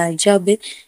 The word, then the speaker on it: hedge: डी कब silent होता है? जब जी से पहले डी आए तो डी साइलेंट होता है।